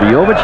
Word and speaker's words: Bojovic: Every time we see him we try to pronounce his name again, and I said Bojovic, he said, "You got it."